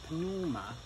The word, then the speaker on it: pneuma: And so from the word spirit, pneuma, silent P more or less, we get spirit.